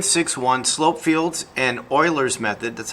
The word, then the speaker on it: Euler: all right lesson six one slope fields and euler's method that's how you pronounce it a slope field is a graphical